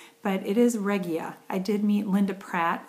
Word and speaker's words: Regia: she's teamed up with regia and it is pronounced regia I have been um I always pronounced it regia but it is regia I did meet Linda Pratt of the um